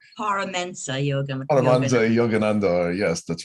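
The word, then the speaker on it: Paramahansa Yogananda: I can never pronounce his name, but yeah. I believe it's Paramensa Paramensa Yogananda.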